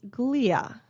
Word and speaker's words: glia: Next up is the suffix glia. Glia, that is how that's pronounced.